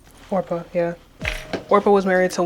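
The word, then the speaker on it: Orpah: How do you pronounce her name? Orpa.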